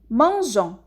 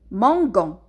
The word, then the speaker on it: mangeons: a ajouté là c'est dit nous mangeons et pas nous mango on a ajouté le